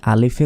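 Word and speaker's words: ألف: যে আলিফ আলিফ নয় শেষে বাংলার প এর মত উচ্চারণ করি তো প হবে না বাংলার যে এই ফ রয়েছে শেষে এই ফ এর মত উচ্চারণ হবে আলিফ আলিফ কোন টানা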